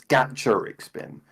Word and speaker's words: Gacharic Spin: It comes from gacha as in like the gachapon machines, so it's Gacharic Spin, which makes sense as well for the spelling.